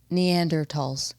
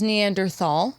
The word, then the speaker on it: Neanderthal: I am obsessed with Neanderls. Notice the correct pronunciation. Yeah, because I I always knew it as Neanderthal my whole life.